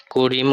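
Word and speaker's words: Karim: তো একজন র্যান্ডম আমি নামটা লিখতেছি, ধরেন করিম উদ্দিন। তো ধরেন এক্সামিনার আপনাকে জিজ্ঞাসা করছেন করিম উদ্দিন তো নাম, তো এটার বুকসটা বিটেন বলেন, তখন আপনি কিভাবে বলবেন?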